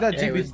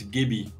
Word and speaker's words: Gibby: It's not Jibby Gibraltar. It's not a J, it's not Jibby, it's Gibby.